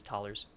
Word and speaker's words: thalers: So if you don't know how to pronounce this, we say cash right now, but that'll get renamed. It is thalers.